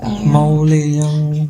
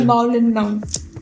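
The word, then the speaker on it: Mawlynnong: It's called Maulayang. No, the way you're pronouncing it, you're not like Maulinang. Okay. Like the way he's pronouncing it, it's like Making you forget. Yeah. It's called Maulinang.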